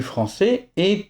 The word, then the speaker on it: française: D'un autre côté, la phonétique du français est très différente du chinois parce que de nombreux syllabes finales sont des demi-sons. Par exemple, française, c'est le son franc, le son c'est et un mini son z ou alors bœuf.